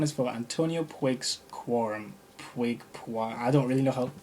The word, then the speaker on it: Puig: Puig. I don't really know how to pronounce it, but I just say Puig.